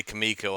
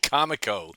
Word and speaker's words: Comico: The first time I heard someone say Kamiko I thought what is wrong with them? It's It's definitely Comico. I mean, it's comic company ComicCo.